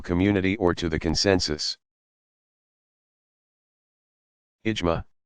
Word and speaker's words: ijma: Ijma, pronounced IJMAA, of legal scholars.